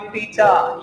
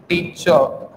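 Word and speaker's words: teacher: आप टीचा नहीं पढ़ेंगे, इट्स नॉट टीचा, आप इसको क्या नहीं पढ़ेंगे टीचर नहीं पढ़ेंगे, इसमें क्या होगा प्रोनाउंसिएशन थोड़ा सा हलत लगता है, इट्स टीचर, हल्का सा अ का साउंड आता है, इट्स नॉट च, है ना टीचर फादर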